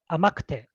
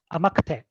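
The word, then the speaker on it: 甘くて: When I say devoiced, it's kind of very lightly pronounced or barely pronounced. So kute would become kte, kte. For example, when we conjugate the e adjective into te form, then we have something kute. Like abai, sweet, it becomes amakte, amakte.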